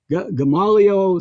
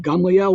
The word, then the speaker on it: Gamaliel: leader of the pharisees gamaliel gamalio some people pronounce his name but gamliel we would say in hebrew he saved the